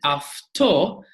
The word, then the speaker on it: αυτό: But if it is as in afto, followed with a T, it will become an F sound. So afto, this, afto.